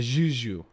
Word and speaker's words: Juju: I would play in Chushu anytime. I'd play with Jamie anytime. Am I pronouncing it wrong, by the way? I pronounce it either, bro. I'd give it like a zh. Like a Juju.